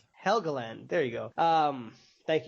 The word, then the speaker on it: Helgeland: like and but Brian and I I can't pronounce his last name. Heland. Yeah. He uh Helgand. Helgand.